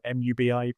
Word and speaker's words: MUBI: Um and I think it might be on um I think you pronounce is it movie mubi?